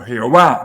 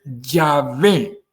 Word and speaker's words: Yahvé: Por eso que es importante, le dice Yahvé, él no está diciendo Jehová, no. Su pronunciación correcta es Yahvé y la pronunciación correcta metafísica es Yahvé, que significa yo soy el que soy.